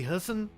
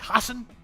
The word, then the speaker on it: Hassan: be watching Democratic incumbent Maggie Husson I can't say your name right I can't say it right Maggie Hassan and a [ __